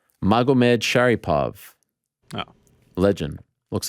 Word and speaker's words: Magomedsharipov: Magomedsharipov.